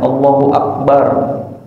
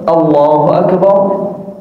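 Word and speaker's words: الله أكبر: Atau seringnya ngedengar Allahu Akbar atau Allahu Akbar. Hati-hati yang jadi imam hamzahnya tebel.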